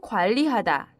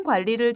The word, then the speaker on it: 관리: 세우는 것이 좋습니다 시간 관리를 잘못하면 일을 성공적으로 마치기 어렵습니다 관리에 발음을 주의하세요 관리 관리 내 지금까지 계획과 관계에